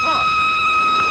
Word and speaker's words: Froy: My name's Froy. Did you say Froy? No, Froy. Not Lindsay. Froy. I'm sorry, I can't hear. It rhymes with joy.